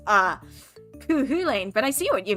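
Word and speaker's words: Cú Chulainn: so hard to pronounce i only recently learned how to say kuhulein and even then that's only in one of three gaelic dialects i didn't realize there were three ways to pronounce uh hulane but i see what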